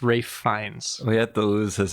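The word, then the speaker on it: Ralph Fiennes: fines oh my goodness I believe it's Ray fines it's spelled like Ralph fianz pretty sure that I'm pretty sure that the Google pronunciation guide thinks it's Ray fines we had to lose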